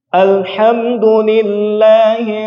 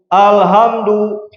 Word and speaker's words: alhamdulillah: Alhamdulillahi Rabbil Alamin. Yo. Nah, alhamdulillah. Apa artinya? Segala puji bagi Allah, Rabbil Alamin, Rabb semesta alam. Nah, ketika dibacanya malah jadi alhamdu. Sanes alhamdu. Apa artinya? Kehancuran atau kematian.